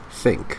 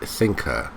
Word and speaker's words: think: that should not haven't it's think not sink and I hang on